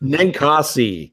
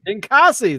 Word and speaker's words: Ninkasi: Pronounce it for me, Dave. Ninkasi. Ninkasi.